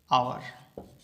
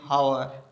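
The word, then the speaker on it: hour: पढ़ने में आता है, आवर। ठीक है, आवर पढ़ने में आता है तो अपन इसको बोलते हैं एन आवर। ऐसे नहीं कि एन हावर, हावर नहीं पढ़ते हैं अपन, इसको आवर पढ़ते हैं।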